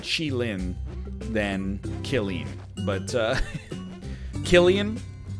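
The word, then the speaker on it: Qilin: like apparently uh the the mount in neo babylon is not called kelleen it's chilin be honest with you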